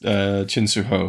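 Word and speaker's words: Chin Siu-ho: Just get it on, But, I liked Chin Soo Ho, that's how you pronounce his name.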